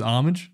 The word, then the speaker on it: homage: the significance of Fire I don't think you pronounce the h that much I was gonna say um the homage the hobbits with The Hobbit what do you is it just homage um yeah really yeah